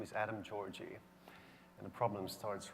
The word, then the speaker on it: Gyorgy: I said, "Gyorgy," and he said, How do you spell it? How do you write it? I said, it's Gyorgy. It's an orgy with a GY.